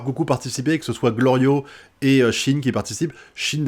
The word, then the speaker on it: Glorio: que à chaque fois il appelle goliro au lieu de l'appeler glorio et souvent il le